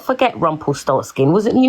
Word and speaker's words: Rumpelstiltskin: Rumpelstiltskin.